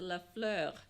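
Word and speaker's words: LaFleur: it's the wrong pronunciation the real pronunciation in French is the La Fleur it's very different whatever so you know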